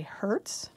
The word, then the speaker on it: hertz: And we usually use what's called a hertz. You would spell that H-E-R-T-Z, like the rental company, and abbreviate it hertz.